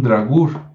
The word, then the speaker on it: Draugr: Sí, se escribe D-R-A-U-G-R, Draugr, que suena muy parecido a dragón o a Drácula o a Drácul, y tal vez, solo tal vez, no sea una coincidencia.